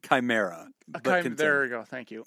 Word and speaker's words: chimera: It's pronounced chimera.